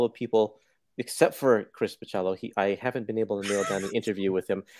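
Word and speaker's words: Bachalo: Because so, that sounds right, but next Imaginaut swears it's Bacello. It is. That's you put the way that I've always pronounced it. You put and then the I emphasis correct. On the cha.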